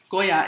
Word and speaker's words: Goyard: going to do my Goya collection which is pronounced uh Goya even though it's has a d on the